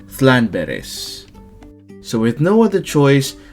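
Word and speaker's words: Llanberis: Even though it's spelled Landberries, you still have to say Clanberries, but if you live around here, you'd probably say Thlanberries.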